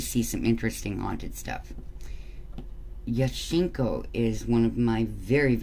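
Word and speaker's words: Jaskinho: some interesting haunted stuff yeshenko is one of my very very very favorites it is spelled justin ho j-a-s k-i-n-h-o but it is yeshinko um and they call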